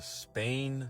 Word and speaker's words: SPANE: The study is called the Spain Scale of Emotion Research Project, and that's spelled SPANE.